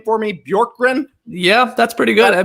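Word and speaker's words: Bjorkgren: hired one nade out one nade in skeets pronounced this name for me bjork grin yeah that's pretty good i mean that's how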